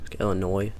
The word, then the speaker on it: Illinois: between Tennessee and Illinois I don't know why I pronounced that with an S Illinois okay so the next